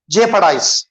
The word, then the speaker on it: jeopardize: Jeopardize है बोलना, यहाँ भी ओ साइलेंट है, jeopardize, jeopardize, jeopardize मतलब जान खतरे में डालना, inviting dangers, inviting dangers.